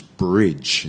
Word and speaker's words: bridge: the Chinese but not it's not beige it's bridge bridge the last program back